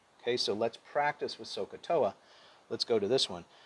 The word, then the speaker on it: SOHCAHTOA: Say so, ka, toa. Repeat after me. So, ka, toa. Then I want you to say it all together. SOHCAHTOA. SOHCAHTOA.